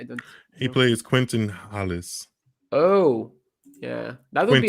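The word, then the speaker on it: Halys: Quentin Hollis, actually. I think that's how you pronounce it. Alice, because the H is silent in French most of the time. But yeah, Quentin Alice.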